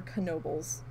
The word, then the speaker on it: Knoebels: park in Pennsylvania is Nobles or Knoebels not silent so I am supposed to be saying the K okay so yeah like